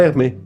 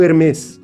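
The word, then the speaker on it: Hermès: quiserem saber deles, eu expliquei no vídeo da Hermê ou Hermês, a palavra tanto faz. E justamente a pronúncia dessa palavra, no vídeo da Laura, é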